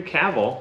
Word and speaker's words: Cavill: the name that actually looked up how to pronounce Henry Cavill like travel will star and produce